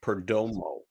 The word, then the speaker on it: Perdomo: Yeah I have to say his name is not Perdomo several times. Jorge Perdomo per. Dau mau like Romo.